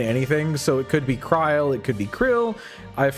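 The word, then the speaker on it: Krile: What's the consensus on how to pronounce Kryl? I've been calling her name Krill for too long to change. I've always called her Kryl. Because if it was Krill, it would have another L.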